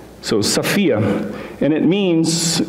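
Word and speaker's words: σοφία: is the greek word sophia sometimes pronounced sofia but it's actually an omicron so it's a it's a short o sound so sophia and it means it's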